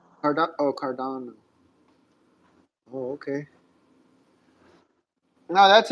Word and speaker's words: Cardano: Oh, Erin Barack is the CEO of uh I believe of Cardona. How do how do you pronounce that? Cardano. Card Oh, Cardano.